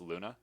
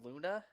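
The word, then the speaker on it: луна: is that it's russian russian yeah it's actually pronounced luna yeah haven't looked it up yeah it's moon in russian yeah that word is pronounced luna yep yeah i just went to the google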